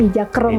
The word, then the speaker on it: Ija Kroeng: Tapi kita pakai spelling yang ada Indonesia Inggrisnya, ada E-nya, Ijakroeng gitu. Oke, tapi bacanya tetap Ijakrung ya.